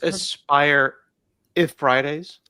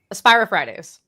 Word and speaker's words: AspiriFridays: And everyone was like, you should really have Hanselman on AspiriFridays. And so we made it happen. Just like that. User feedback driven. It's Aspire if Fridays. AspiriFridays. It's You gotta slur a little bit.